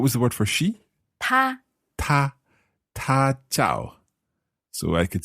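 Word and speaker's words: 他: so in Chinese pronunciation he and she all pronounced as ta and there's no difference no only in character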